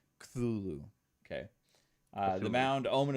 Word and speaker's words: Cthulhu: There's not an A in between the C and the T, so I've always struggled in how to pronounce that. Cthulhu.